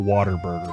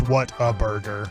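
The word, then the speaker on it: Whataburger: are you thinking water it's not Water Burger bro the hell it's not it's not waterburger if you grew up in Texas it's waterb I say it Like Water Burger but I know it's what a burger I realized what it's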